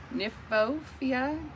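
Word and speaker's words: Kniphofia: I'm gonna assume the K is silent. It's a Nymphophia glow stick.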